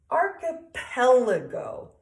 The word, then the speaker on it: archipelago: art the peled go so we're gonna emphasize the pet ok archipelago can you say that